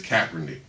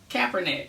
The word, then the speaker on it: Kaepernick: And it's Kaepernick. Kaepernick. Okay, I just want to make sure you know how to pronounce it.